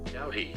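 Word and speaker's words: doughty: Dowy. Is that how you say it? Dowy. Yes. Dowy. Dowy.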